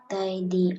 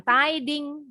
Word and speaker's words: tidying: Tidying up. Tidying up Your daughter's wardrobe. Yes. Wardrobe artinya lemari pakaian. Tidy karena pakai akhiran y tinggal tambahin ing. Tapi bacanya bukan tiding, tapi tidying.